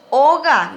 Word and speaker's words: oga: Casa en guaraní es oga, lleva acento en la O.